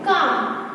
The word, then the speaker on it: calm: CALM काम। तो यहाँ पे जो साइलेंट है वो क्या है? L है वो साइलेंट है।